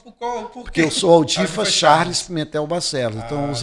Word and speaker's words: Audifax: Até hoje, alguns chamam de Aldifax. Lá no Congresso, quando eu fui deputado federal, eu até passava um sufoco que todo mundo só me chamava de Aldifax. Né? Mas é Aldifas a pronúncia, mas escreve Aldifax.